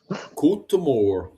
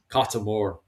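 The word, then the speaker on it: cóta mór: Cotemore. I actually prefer Cotemore. I prefer the Munster pronunciation. Cotemore.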